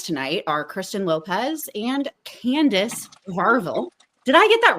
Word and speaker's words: Kandise: Candace is perfect.